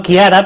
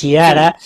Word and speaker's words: Chiara: Bueno, quiera alguien que quiera contactar contigo, ya sé que tu web es difícil de porque como yo te estoy llamando Kiara, pero se escribe con Che. Sí, Chiara, voy a sí.